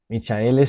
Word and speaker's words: Michael: Se pronuncia Michael.